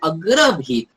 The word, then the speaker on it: अग्रभीत: Last word है अग्रभीत, भ के बाद जो दीर्घ मात्रा आई है, जहां जहां भी सेकंड विलांटी, सॉरी मात्रा नहीं विलांटी, जो भी दीर्घ विलांटी आती है तो उसका जो उच्चारण है उसको ड्रैग करके थोड़ा सा चैंटिंग करना है। इसलिए हमने चांट किया अग्रभेत अग्रभेत, ऐसा चांट किया है आपके जानकारी के लिए।